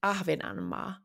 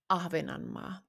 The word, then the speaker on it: Ahvenanmaa: Oop orand it's in finish Ahvenanmaa. Ahvenanmaa.